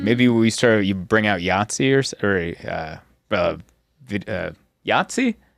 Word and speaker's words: Yahtzee: Maybe you bring out Yahtzee Yahtzee? Is that a game? That is a game. Yes, I'm saying it right.